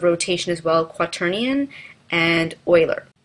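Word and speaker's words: Euler: as well querian and Oiler it looks like it's uler but I've been told it's pronounced Oiler so quaternium is very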